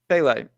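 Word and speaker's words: Pelle: Pele, like the soccer player.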